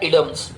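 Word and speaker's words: idioms: इसका शुद्ध प्रोनाउंसिएशन होता है इडम्स, लेकिन हम आइडम्स बोलते हैं क्योंकि जब शुद्ध प्रोनाउंसिएशन का टाइम आएगा तब शुद्ध बोल लेंगे।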